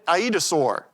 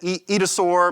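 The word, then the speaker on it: aetosaur: Some people pronounce it Edosaur. My dinosaur paleontologist, my instructor said Aidosaur. Anyway, either way is fine.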